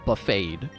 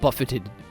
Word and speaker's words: buffeted: I'm buffeted by the sandstorm. I looked it up. That word is actually pronounced buffeted. It's not buffeted. It's buffeted. Alright, we're going Takuba because Sandshrew.